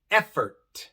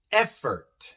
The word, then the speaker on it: effort: Tenemos effort, effort, direct, direct. En effort, la E viene en la sílaba tónica. Es la sílaba que tiene más énfasis. Effort, effort. Y por eso se pronuncia E. Effort.